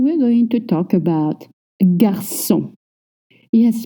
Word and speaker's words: garçon: Now let's go to number 3, and we're going to talk about garçon. Yes, please don't say garçon ou garcon ou garcon. The C comes with a cédille.